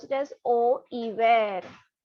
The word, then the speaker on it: hiver: We pronounce it as au hiver. H is silent.